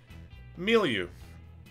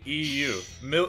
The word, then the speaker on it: milieu: for a chance of steel the word is milieu m e a u l u that is incorrect it is spelled m i l i m-i-l-i-e-u milieu the wild rock concert was not matilda's